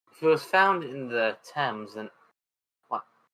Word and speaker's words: Thames: Well, I know the body was found in the Thames, but I don't know what It's pronounced Thames. Thames. Okay. Yeah. Nobody, every American gets it wrong the first time.